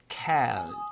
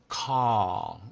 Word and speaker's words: call: 그런데 여기 이 경우는 A라고 하는 글자 다음에 자음이 두 개 왔습니다만 이 경우는 cal 이렇게 발음하지 않고 call 이렇게 발음이 됩니다.